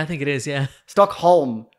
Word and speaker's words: Stockholm: Stockholm Syndrome, I think. Yeah, I think it is. Yeah. Stockholm. It's Holm, isn't it? Because it's not home.